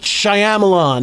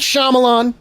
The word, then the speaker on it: Shyamalan: I need everyone to understand that her name is pronounced Gadot. I'm not trying to be funny. Everyone thinks she's French. Gadot. M. Night Shyamalan. No, it's M. Night Shyamalan.